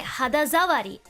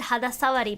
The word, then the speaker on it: 肌触り: Toki no tsumetai hadazawari. Okay, I pronounced this wrong earlier, so I said hadasawari, but because there's a da before, it has to be za, is what Japanese speakers are telling me.